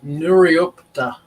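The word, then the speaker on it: Nuriootpa: town that we're going to it's cool it's pronounced nuriopter ah okay it's the it's the barossa valley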